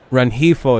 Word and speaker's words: Rengifo: Rengifo is how you say that.